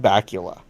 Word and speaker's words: Bakula: What about Scott Bakula? Okay. Because it rhymes with Dracula?